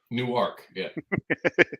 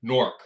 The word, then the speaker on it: Newark: in new jersey correctly they think it's two syllables newark newark no that's that's that's in delaware newark is in delaware newark or or if you're from there nork nork it's one syllable but yeah so weather